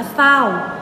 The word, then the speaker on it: เศร้า: เป็น ตัว ร เรือ แต่ เวลา อ่าน เรา จะ อ่าน ไม่ ออก เสียง ร เรือ นะ นี้ นะ คะ ที่ คำ ว่า จริง จริง อ่าน ว่า จริง เศร้า อ่าน ว่า เศร้า ไซร้ อ่าน ว่า ไซร้